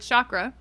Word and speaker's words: chakra: it's same thing with chakras because the word chakra or chakra if you're saying it correctly is also from India